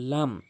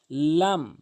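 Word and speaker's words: لام: এরপরে আসুন লাম লাম লাম লাম খুবই সহজ লাম বললেই সঠিক উচ্চারণ লাম জিহ্বার আগা জিহ্বার আগা জিহ্বার আগার কিনারা উপরে মারের সঙ্গে লাম লাম এরপরে আসুন মিম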